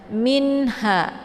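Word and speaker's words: مِنْهَا: panjang 2 harokat saja minha ada Min sukun bertemu dengan huruf H yaitu dinamakan dengan izhar Hakiki jadi cara bacanya nun-nya dibaca jelas cukup ditekan mimnya saja minha ya tanpa harus ditahan atau dibaca dengung minha dibaca panjang Karena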